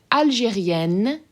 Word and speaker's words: Algérienne: So this first one is Algérien, open, sort of nasally end sound, and Algérienne, closed end sound where you're actually pronouncing them.